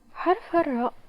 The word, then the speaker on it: راء: to the Spanish okay the sound occurs when the tip of the tongue presses to the surface upper palette as you can see